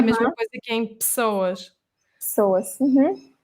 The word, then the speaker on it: pessoas: Porque pessoas, o que acontece é que temos uma vogal muito pequenina, que é um "e", entre duas consoantes, e Uhum. é numa sílaba que não é a sílaba tónica.